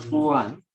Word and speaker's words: Poisson: Se pronuncia Poisson, como los croissants, ¿no?